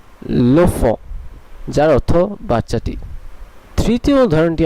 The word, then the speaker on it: l'enfant: ধরনটিও বদলে যাবে এবং এর উচ্চারণটি একটি শব্দে রূপান্তরিত হয়ে যাবে দুটি শব্দের বদলে। এখানে উচ্চারণটি হবে লোফ, লোফ, লোফ, যার অর্থ বাচ্চাটি।